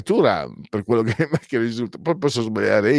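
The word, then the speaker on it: Thuram: capito perché per tutti tutti è diventato turam tuam No è turam per quello che che risulta poi posso sbagliare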